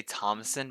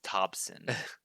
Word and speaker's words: Thompson: say his name because i want to say thomason but it's thompson oh hold on martin abernathy i have his